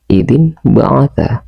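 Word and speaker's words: إِذِ انۢبَعَثَ: Idzin ba'at. Idin baat. Cara membacanya idin baat.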